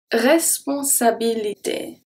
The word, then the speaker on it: responsabilité: So yeah, responsabilité. The first E is pronounced as a E.